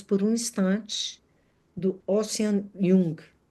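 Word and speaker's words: Vuong: um Instante, do Ocean Jung. Não sei se é assim que pronuncia, Wung, é com V, V-U-O-N-G.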